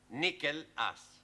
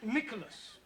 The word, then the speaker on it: Nicholas: upon a times there was a man called nickel ass it's not quite right no once upon a time there was a woman called nickel ass it's pronounced Nicholas all right once upon a time there was